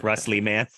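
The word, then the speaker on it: Russ Lieman: people can't find it I put Russ l-i-e-m-a-n like live man in case they can't spell it so that often comes up in tag that's funny but yeah wrestleman yeah yeah well Mike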